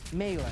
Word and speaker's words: melee: M really really M melee M no it's it's melee like that's actually like how you say it we gave you the